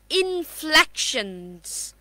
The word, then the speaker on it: inflections: Now, let's take another word, which is inflections. But this time it will be Z again because there is what? Nasal sound.